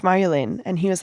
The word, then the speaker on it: Marjolein: He's like, it's Marjolein. I was like, it's pronounced Marjolein.